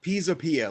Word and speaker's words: Pisapia: there's only one though that's right Pisa Pia like the Leaning Tower of Pisa gotcha thank you the